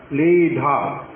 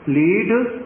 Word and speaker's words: लीढ: लीढ़, मेरा उच्चारण ठीक नहीं है, लीढ़, ढा होना चाहिए, ढा ढक्कन वाला लिखा हुआ है जो।